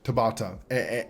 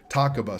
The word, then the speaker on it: Takaba: you know we just introduced Tabata or takaba sorry I've been saying it wrong the whole time I'm sorry I just